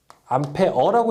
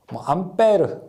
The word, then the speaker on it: 암페어: 암페어라고 읽는 것이 일반적이고요. 외부에서는 이제 외부라고 하는 것은 이제 비표준어로서 암페어, 암페르 여러 가지 말이 있는데 보통 우리가 암페어라고 읽게 됩니다.